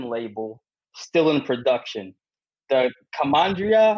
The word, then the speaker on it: Commandaria: the oldest wine label still in production the commandria how do i pronounce that yeah commandaria commandaria all right the the commandaria was uh invented